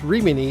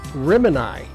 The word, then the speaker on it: Rimini: assumed the suggested name, pronounced in Italian as Rimini, was for the actor who played the leading role, thinking it was Irish, and accepted the name. So did the post office. But instead of the Italian pronunciation, they went with Rimini, and it stayed ever since.